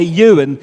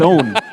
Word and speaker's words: Owen: No, the English people couldn't pronounce Owen. They couldn't. They kept saying, "Okay, Ewan, when you walk over here, Ewan, feck off, it's Owen." 800 years and you never learned to say Owen.